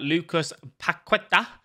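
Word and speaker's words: Paquetá: I really like him, but that Lucas Paqueta, that's how you say his name, is a very, very solid card.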